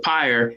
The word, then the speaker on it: pyre: that or not but pyre is is spelled p-y-r-e and it's pronounced pyre so it's like fire but with a p i barely hear the